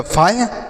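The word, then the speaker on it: fire: देखिए, एफ से लिखेंगे फॉर्म। अब आई के बाद आर ई है तो आई का उच्चारण तो मतलब एफ आई हो गया फायर, आर ई से रॉ लिखा गया फायर।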